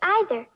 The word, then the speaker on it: either: You can hear the five parts, but some people say either. Can you say either, either, or either?